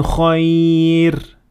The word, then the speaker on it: خير: As you have heard, the first خير is empty mouth when you stop at it, and also when you keep on reading, and the reason is that it has تنوين كسر under it.